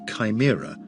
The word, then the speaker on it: CHIMRA: CHIMRA, pronounced Chimera, after the multi-headed creature of Greek mythology, which stands for the Collection and Handling for In Situ Martian Rock Analysis Tool.